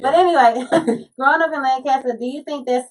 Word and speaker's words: Lancaster: street, but I mean, it's spelled exactly the same, but it's Lancaster. Okay. Like we call it Lancaster, and I come in here and y'all be like Lancaster. I'm like Lancaster.